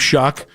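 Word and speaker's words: Shough: You shouldn't spell it that way and then pronounce it the way that he does.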